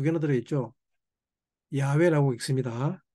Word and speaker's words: 야훼: 야훼라고 읽습니다.